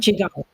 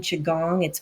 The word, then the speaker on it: Qigong: Qigong. Qigong. Qigong. Qigong. Qigong. Mhm. Okay. Yes. Now that I've butchered the pronunciation and you said it correctly,